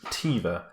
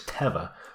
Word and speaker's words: Teva: I was originally pronouncing this Teva, but I looked on their website. Apparently it's not. Apparently it's Teva, which sounds weird to me.